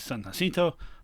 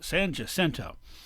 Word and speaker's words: San Jacinto: Battle of San Jacinto, which actually would have been pronounced by the Mexicans as San Jacinto, but the Anglos won, and they're in charge now, so it's San Jacinto.